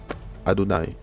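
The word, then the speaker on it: יהוה: Mais en hébreu, en fait, ça se lit Adonai. On lit Adonai, ok?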